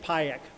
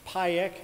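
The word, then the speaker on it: Pajek: I used PIEC, is the network mapping software that I used for the, it's PIEC, and that is spelled P-A-J-E-K, which means spider in Slovenian.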